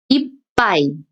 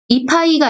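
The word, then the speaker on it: いっぱい: 이빠이. 이파이가 아니고요. 이빠이.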